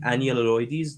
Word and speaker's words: Enyalioides: Enyalioides. Did I say it right? yeah, and Enyalioides.